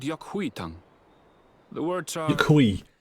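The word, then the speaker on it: Yok Huy: Yukui. That's how it's pronounced. Yukui.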